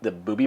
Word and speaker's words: Buubi: Or the other one that we really like, that we have not tried, is the Booby bottle. It's spelled Buubi.